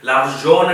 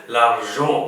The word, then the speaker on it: l'argent: லவ்ஷோ லவ்ஷோ என்பது பணம் அந்த உச்சரிப்பை பார்ப்போம் லவ்ஜோ அதான் இந்த இன் வெட்டி இருக்கிறேன் உங்களுக்கு தெரியும் இன் போட்டு வெட்டிவிட்டால் சத்தம் 50 வீதம் குறைஞ்சு உச்சரிக்க வேண்டும் அப்ப லவ்ஜோன் என்று வராது லார்ஜோன் என்பது பணம் அப்ப இந்த படத்துல வந்து